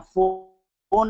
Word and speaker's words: phone: So a phone should be pronounced like a a phone or it should be So here's a little confusion for me. Mhm. Okay. So the ph sound ph has an f pronunciation.